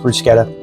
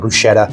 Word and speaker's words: bruschetta: We're going to put our bruschetta together, and it is pronounced bruschetta. I had to Google that. We always called it bruschetta.